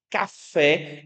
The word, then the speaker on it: café: Café é o que nós chamamos de palavra oxítona. A sílaba tônica é a última, assim como a palavra sofá.